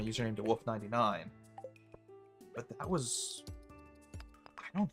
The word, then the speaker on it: Wolfe: And most people don't know, like they assume the spelling of my last name is the normal spelling of wolf. So it almost takes advantage of that. Like I said, most people aren't going to spell my last name with an E at the end, which is how it is pronounced and spelled.